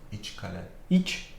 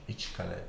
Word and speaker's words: İçkale: Like How do this you is- pronounce this? İçkale. İçkale.